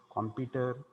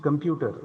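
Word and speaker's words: computer: कॉम्प्युटर, कॉम्प्युटर, अजून काय काय म्हणतात. ॲक्च्युअल उच्चार काय आहे? इट इज कम्प्युटर. Okay, कम्प्युटर, नॉट कॉम्प्युटर. Clear?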